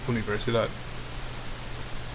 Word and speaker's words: universidad: So for example, number 1, the student was trying to say universidad, but she pronounced it wrong, and the instructor corrected her and said, no, this is how you pronounce it, it's universidad.